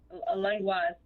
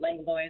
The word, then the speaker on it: Langlois: Is it Langlois or Langlois? Langlois is the proper pronunciation, but Langlois is fine as well.